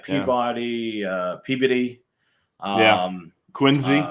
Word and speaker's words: Quincy: uh peabody yeah um quincy there's no z in quincy yup see the rest